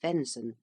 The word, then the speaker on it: venison: governing Council of Rome venison pronounced venon the Flesh of deer